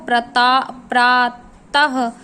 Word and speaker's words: प्रातः: विसर्ग का उच्चारण हा की तरह होता है, जो हलंत नीचे लगता है। जैसे आपने प्रातः को प्रातः की तरह बोला जाता है, जो हमने ये हलंत लिखा उसको प्रातः की तरह आप बोलते हैं।